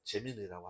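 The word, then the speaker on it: Gemini: 그래서 여러분들 현재는 어 재미나이를 써도 되고 예 아니면은 어 예 GPT를 쓰셔도 됩니다. 예, 재미나이라는 발음은 이제 미국식 발음이기 때문에 재민이라고 하셔도 괜찮아요. 자, 그래서 여러분들 지난 시간에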